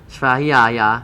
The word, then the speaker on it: Svadhyaya: Svadhyaya.